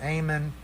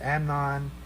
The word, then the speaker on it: Amnon: It's not Amon, it's Amnon, who was the son of Ahinoam of Jezreel.